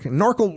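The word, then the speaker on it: NORCL: not going to work norel rhymes with snorkel that's not going to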